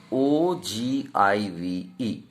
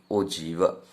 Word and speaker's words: ogive: g i v e we pronounce this way it is given that o g o g earlier days or um we were speaking o give ogive whatever it may be here it is written that way you have to pronounce i will speak ojiva you may have different also it is not